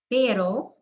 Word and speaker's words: pero: get the word started now this is really important because it can change the meaning of a word aro with the tap means expensive means or in order to parra is somebody's last name pero means but as in i want to but i can't perro means dog so really important to master the difference